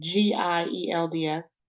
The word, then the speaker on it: Gields: So the correct pronunciation of your last name, please. Gields, Gields.